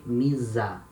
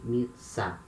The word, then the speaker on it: missa: If we had here just one letter S, we would say misa. It's not the case. We say missa.